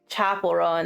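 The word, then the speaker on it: Chappell Roan: Like uh Sha Chappel Rowan like her music videos Chapel Rowan. There it is. I'm like why can't I remember how to pronounce her name?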